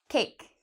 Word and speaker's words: cake: at our next word cake what is the vowel in this this word you said the a you're correct cake now the e in cake we don't pronounce so it's not a vowel because we don't actually